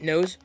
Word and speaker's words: NOS: they use nose uh it knows right that's how you say it nose so loyal drinks nose